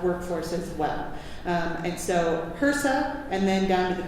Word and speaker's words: HRSA: So HHS, Health and Human Services, HRSA is the terminology you'll hear the acronym pronounced out loud.